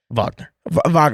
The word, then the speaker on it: Wagner: Wagner. Is it Wagner? I thought it was Wagner. Okay, Wagner. It's spelled Wagner, but it's pronounced Wagner.